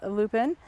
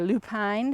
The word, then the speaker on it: lupine: I love lupin, or lupine, depends how you say it.